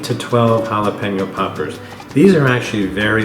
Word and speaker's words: jalapeño: the side of that oh and the correct pronunciation is jalapeno being mexican i actually try to train uh train people to pronounce it correctly a lot of people say jalapeno which makes me go but it's jalapeno okay so i'm going to continue cleaning these